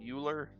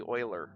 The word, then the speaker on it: Euler: Although I might be mixing it up with Euler, U-L-E-R, which I've always called Euler, rhyme it with Ferris Bueller. But it's technically Euler, apparently.